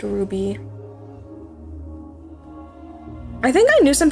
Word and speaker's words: RWBY: I'm not gonna get involved in that then pronounced Ruby I think I knew some people in high